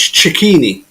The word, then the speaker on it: Cicchini: In Italian, if it's one C, it's pronounced a ch sound, but if it's two C's, it's a cut. So it's cicchini. Cicchini. Oh, Okay. Cicchini, yeah. The double C Yeah. is actually pronounced as a K, a k sound, but the single C is a ch.